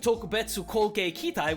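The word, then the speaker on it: 特別攻撃隊: Like, two other very specific things that get dropped in this movie are Yokusai and Tokubetsu Koge Kitai. Apologies everyone, it's actually pronounced Gyokusai and Tokubetsu Kogekitai.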